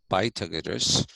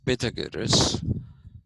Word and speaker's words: Pythagoras: If you look at the mathematicians of the period, people like Pythagoras, like I said, not pronounced Pythagoras, but it is Pythagoras.